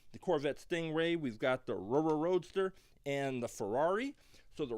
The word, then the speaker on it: Rrroadster: And if anyone is not sure why I keep saying the Rrroadster, it's because it is spelled with 3 R's.